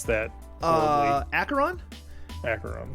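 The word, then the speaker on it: Acheron: pronounce that uh acaron acaron I know it's acaron because it's a that's a level in uh metal hell singer and they they they say how to pronounce it so it's acaron it's acaron it's a it's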